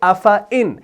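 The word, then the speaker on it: أَفَإِنْ: ہم پڑھتے ہیں افعن، یعنی اس الف کو ہم نہیں پڑھتے، اس کو ہم ڈراپ کر دیتے ہیں، یعنی تلفظ کے اعتبار سے اگر دیکھا جائے ہم اس کو پڑھتے ہیں ایسے افعن، حالانکہ قرآن میں ایسے لکھا ہے لیکن تلفظ کے اعتبار سے ہم سیدھا فا کے بعد حمزہ زیر کو لگا دیتے ہیں تلفظ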